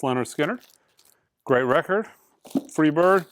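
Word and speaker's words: Lynyrd Skynyrd: hundred import analog records you should own this pronounced leonard skinner great record free bird sounds awesome miles davis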